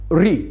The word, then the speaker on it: ऋ: उ उ ऋ हां अब इसका उच्चारण ध्यान से सुने ऋ और इसी के स्थान पर आजकल जो प्रयोग करने लगे हैं किसी का नाम है ऋतु वो ऋतु ना बोल कर के क्या बोलने लगे ऋतु तो ऋ और